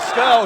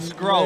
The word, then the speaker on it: Scurll: Yeah, make sure you say his name right, by the way. Scurll, not Scroll.